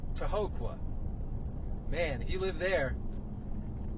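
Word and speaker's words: Tohoqua: on my right called toqua I've never seen that before to Hoka I think that I think that's how you say it t o h o qu UA to Hoka man if you live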